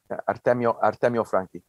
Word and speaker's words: Artemio Franchi: once again, a lesson in the accents, the Artemio Franchi Cup. Is that it? Franchi Cup? Artemio Franchi. Artemio Franchi. Is that, yeah. Do I get a 9 out of 10 for pronunciation?